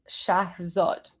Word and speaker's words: Shahzad: So, this is how Jerzad is actually pronounced. It's pronounced shahad.